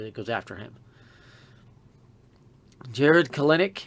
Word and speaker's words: Kelenic: Jared Kelenic, and it is Kelenic. I don't care what anybody else says, that's how you pronounce it.